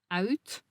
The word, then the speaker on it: uit: discussed earlier, there is also the UI diphthong, which is pronounced like this, ui, ui. For instance, the sound is found in the words for out, uit, and the word for outside, buiten.